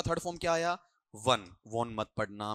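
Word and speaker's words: Vaughan: अगर वॉन बनाते हैं तो फिर आपको वहां ऐसा वर्ड लेकर आना पड़ेगा। वी ए यू जी एच ए एन जो कि प्रॉपर नाउन है। जैसे आपने कभी इंग्लैंड का एक कप्तान हुआ करता था क्रिकेट के अंदर। आपको याद हो तो माइकल वॉर्न। ठीक है? उस हिसाब से आपको लेना पड़ेगा। ये प्रॉपर नाउन की वजह से।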